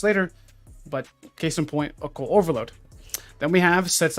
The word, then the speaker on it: Occult Overload: It's Occult Overload, not Opulent Overload. I did this on my video. I just trying to meme and be funny. And now I'm saying it wrong.